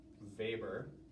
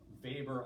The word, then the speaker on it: Weber: Weber. He's German, but it's spelled like Weber, so W-E-B-E-R.